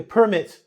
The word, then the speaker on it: permit: Listen carefully to how I pronounce it. You need a permit to work here. You need a permit to work here. I cannot permit you to be here.